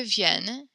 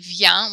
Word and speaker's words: vienne: You said vient, which is kind of like how it's the form of venir that we memorized, V-I-E-N with one N, and then S or T. But with the two N's, it makes a different kind of vienne sound.